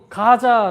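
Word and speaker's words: γάζα: 까지 내려가는 이 길에서 이 가사 라는 단어가 그리스어로 2 가자 라는 발음을 합니다 가자 여러분 가자 지고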